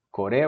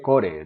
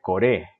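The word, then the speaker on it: これ: Kore wa nan desu ka? No dije core, dije core. Esta frase se debe acentuar acá, en la segunda sílaba.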